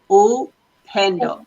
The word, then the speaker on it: Upendo: This is how we say, oh, Upendo, Upendo, Upendo.